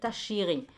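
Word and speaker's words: תשירי: Pronounce it tashiri. You have this e at the end.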